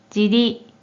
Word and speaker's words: 尻: 이 한자는 뜻으로는 尻、尻、 또는 じり、じり、 라고도 발음하고 한편 음으로는 발음이 존재하지 않아요.